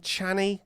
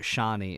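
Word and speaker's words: Chani: is it Paul and channy Cheney channy uh there's arguments over like how to pronounce it but shaie is how they say sh right now the director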